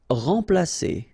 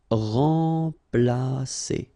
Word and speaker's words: remplacer: Remplacer. So M together, and after that you've got a consonant, so it will be like a nasal, so like en. Remplacer.